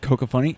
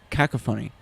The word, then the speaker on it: cacophony: and earth twitch cocophony it's not coco funny c-o-c-a cacophony of metal whatever of